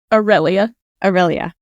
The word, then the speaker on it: Aurelia: And what about Aurelia? Is Aurelia? How am I say it wrong? Aurelia.